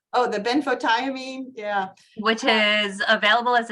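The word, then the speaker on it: benfotiamine: the risks of taking uh okay I can't pronounce it betho tiamine oh the benphotiamine yeah which is available as a supplement if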